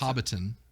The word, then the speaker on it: Hobbiton: That's Hobbiton.